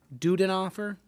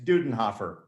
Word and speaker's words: Dudenhofer: we also have dave duden offer and dave i know i butchered your last name could you kindly pronounce it correctly yeah that's dudenhofer okay well thank you